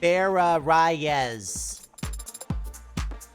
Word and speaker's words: Barraz: So, for the record, your full name is Barraz. And how's that pronounced? Like how I just said it. Barz.